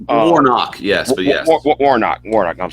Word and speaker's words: Warnock: Against Herschel Walker and Senator Warmack. I hope I pronounced his name right. Warnock, yes, but yes.